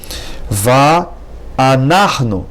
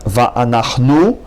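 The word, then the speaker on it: ואנחנו: Va'anachnu, not va'anachnu, but rather va'anachnu.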